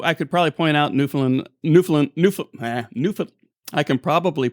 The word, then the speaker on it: Newfoundland: called with the pronunciation by saying understand newfoundland understand that works why didn't we go